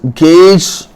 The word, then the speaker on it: gauge: So it is gauge pressure.